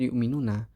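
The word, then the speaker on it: يؤمنون: Nah, lafadz yu'minuna itu hamzah yang di situ diibdal menjadi dengan waw sehingga bacanya jadi yu'minuna.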